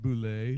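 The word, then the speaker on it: Bulleit: It's pronounced Boulet.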